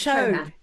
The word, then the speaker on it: Chauhan: It's Chauhan. Not Chu, Chauhan.